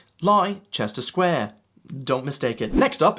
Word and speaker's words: Leicester Square: Now moving on, the first one, right here, should be easy to pronounce just looking at it. Leicester Square. That's right. Leicester Square.